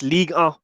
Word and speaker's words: Ligue 1: How do you pronounce it? It's Ligue 1.